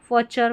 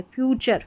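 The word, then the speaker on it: future: फचर फचर क्या है? फ्यूचर। फ्यूचर का आपको मतलब पता है भविष्य। थोड़ा बहुत तो आपने सुना होगा कि हां फ्यूचर इसका सही उच्चारण निकल कर आ रहा है।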